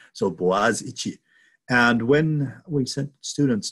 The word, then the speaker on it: Boğaziçi: The spelling doesn't look like how it's pronounced unless you know how to pronounce Turkish letters. So Boğaziçi.